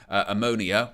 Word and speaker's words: Omonia: No disrespect to Omonia, which is how to pronounce the name.